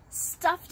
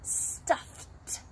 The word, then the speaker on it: stuffed: theo's favorite stuffed animal stuffed animal is an animal that children love to play with notice the pronunciation stuffed stuffed animal the ed ending sounds like a tea stuffed animal meet my